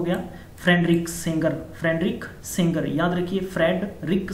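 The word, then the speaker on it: Sanger: And friendly के लिए हम लोग हैं, फ्रेंड मतलब हो गया फ्रेडरिक सेंगर, फ्रेडरिक सेंगर, याद रखिए Frederick सेंगर, Frederick not सिंगर, सेंगर।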